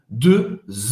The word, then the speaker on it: deux: Cuidado na pronúncia de dois. Em francês, para fazer esse E, faz a boca do O e fala E. Deux enfants.